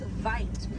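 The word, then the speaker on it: wijd: Original word for white rhino was vite. Vite means wide apricot, but over time it was misheard and mispronounced and it turned into the white rhino.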